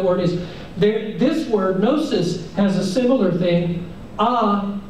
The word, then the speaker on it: gnosis: would spell it g-n-o-s-i-s gnosis um you can hear no k-n-o-w gnosis that our words no